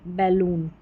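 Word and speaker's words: balloon: Moon सून और एस पी को स्प तो स्पून ये हो गया कार्टून और ये बैलून बैलून इसको बॉल या ऊन ऐसे नहीं बैलून याद रखें अलग से बैलून का मतलब गुब्बारा याद रख लें इस स्पेलिंग को।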